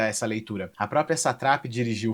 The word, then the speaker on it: Satrapi: Marjane, e eles falam na série Marjan e Satrapi, então eu falo muito Satrapi, mas a pronúncia correta é Satrapi.